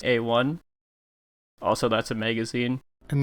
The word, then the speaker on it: A1: It's pronounced A1.